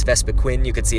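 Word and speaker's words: Vespiquen: but that's why it's vespa quinn you can see its name it doesn't have two e's it's not even pronounced queen but that's kind of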